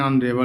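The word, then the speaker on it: honorable: कह रहा है कि जिन शब्दों में एच साइलेंट रहता है उनके पहले भी ए का प्रयोग करते हैं। मतलब एच तो होता है लेकिन ए साइलेंट होता है, इसको नहीं बोलते। An hour, an honest man, एन ऑनरेबल मैन, एन एयर, यानी सब में क्या है प्यारे बच्चों? एच साइलेंट है, इसलिए हम क्या करेंगे? एन का प्रयोग करेंगे।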